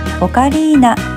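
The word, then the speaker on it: ocarina: オカリナの発祥地はイタリアでオカリーナと発音しますよ。3 問目です。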